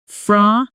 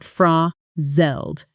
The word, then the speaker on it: frazzle: Notice the double consonant sound in the middle. Zl, which native speakers pronounce with a soft quick buzz. Frazzel, not frazzel.